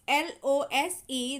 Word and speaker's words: lose: whereas in the lose l o s e there is a z sound at the end lose lose lose okay